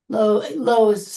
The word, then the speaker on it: Lois: Low is how it's pronounced, not Lois, but so yeah.